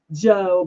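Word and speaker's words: Giò: Now, when I did buy perfume when I was younger, the 90s, my favorite was um was Joe. It's spelled G I O Joe by um Oh, help me.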